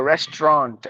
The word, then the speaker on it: restaurant: meaning reunion representative Restaurant Au in the middle or silent so restaurant Resturant rest no restaurant suage no suage Su